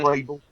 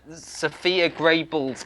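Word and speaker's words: Sofie Gråbøl: Pronunciation. Sophia Grable.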